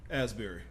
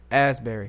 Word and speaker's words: Asbury: Asbury. Asbury.